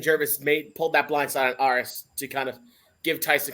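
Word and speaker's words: Aras: If anyone actually knows how to pronounce his name, it's pronounced Aris.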